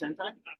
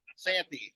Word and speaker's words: Santi: Is it pronounced Sentai? Santi. Santi, like an A.